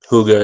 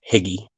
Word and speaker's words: Huga: Huga is awesome, and that's how you pronounce that, if I remember right. It's Huga Homestead. I wanted to say Higgy when I first saw it, but that's not how it's pronounced.